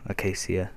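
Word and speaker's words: acacia: the roof out of Redwood whatever it's called a Casia if you want me to say it properly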